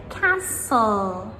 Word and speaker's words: castle: Same with castle, castle, C-A-S-T-L-E.